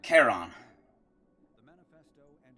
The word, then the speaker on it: Charon: Charon.